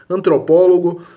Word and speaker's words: antropólogo: A sílaba tônica está na antepenúltima.